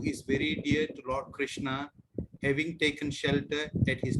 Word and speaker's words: Krishna: The word Hare pronounced as Hare, Krishna pronounced as Krishna, and Rama rhymes with Dharma are Sanskrit words.